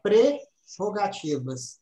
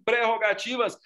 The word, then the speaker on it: prerrogativas: pré o gatinho se houvesse ou não a pronúncia prerrogativas é perfeitamente O do Maurício de INPI muita gente houve muita gente para andar as prerrogativas das prerrogativas das prerrogativas não existem progate vivas não existem rotativas são preparativos pré vocativos existem